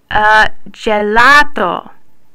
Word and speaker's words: gelato: Next, just like with C's, when a G precedes an E or an I, the sound changes to J. But this is nothing new to you. Just think about when you go out for ice cream. What do you order? Gelato.